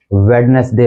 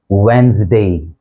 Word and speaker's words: Wednesday: इसको हम commonly वेडनेसडे पढ़ते हैं। आपने भी सुना होगा, लोग बोल देते हैं वेडनेसडे, वेडनेसडे, लेकिन जो इसका करेक्ट प्रोनाउंसिएशन है वो है वेंसडे, वेंसडे। ये 2 सिलेबल वर्ड है, वेंसडे।